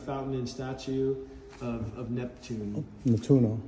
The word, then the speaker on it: Nettuno: I'm sorry, how is this name pronounced of this area? Nettuno.